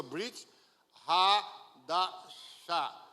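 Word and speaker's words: ברית חדשה: Se pronuncia Brit Hadashah, que significa aliança renovada ou nova aliança.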